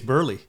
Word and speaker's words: Burleigh: Burleigh Grimes, 1985, Hall of Fame pitcher Burleigh Grimes. I think I'm saying it right, Burleigh. I think it's Burley, I'm going to say Burleigh then. like Mark Burley.